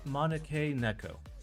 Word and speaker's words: Maneki Neko: Alright, GMK Maneki Neko. Maneki Neko? I don't fucking know how to pronounce it. Okay, so I said it right the first time.